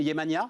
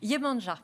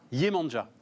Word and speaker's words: Yemanja: Comment vous prononcez? Yemania, ça se prononce à la... Perdu, presque. Yemanja. Yemanja. En français. Yemania, ce serait... Brésilien. Non, ou serbo-croate. Voilà.